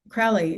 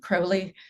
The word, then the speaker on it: Crowley: And And for the record, I believe that Americans pronounce it Crowley or Crowley, Crowley, but it is Crowley in other countries. So Crowley if you're English and Crowley if you are American.